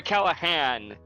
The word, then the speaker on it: Callaghan: Sorry, Callahan. The G is silent.